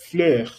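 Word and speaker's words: fleurs: El plural sería le fleur. Le fleur. Y tienes que entender que no estoy pronunciando la S final, ¿verdad?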